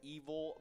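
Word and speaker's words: Evol: we got evil but evil it's spelled like e-v-o-l butternut squash lasagna this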